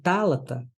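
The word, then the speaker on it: θάλαττα: Então, tálata é proparoxítona. Toda palavra em grego, sendo proparoxítona, tem como esta sílaba final breve.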